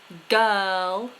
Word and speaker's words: girl: and her good words words that I often hear mispronounced girl no R girl and H look how still